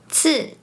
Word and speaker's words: 吃: Let’s see some examples, “是 to be” is pronounced like “是 si4” “知道 to know” becomes “知道 zi dao” “吃 to eat” becomes “吃 ci4” The next one is 3.